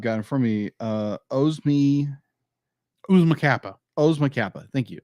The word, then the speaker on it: Oozma Kappa: Oh yeah, so my third like would be is like pronounce this correctly. I've got in front of me Oozma Kappa. Thank you. Oozma Kappa, because it's like Oozma Kappa.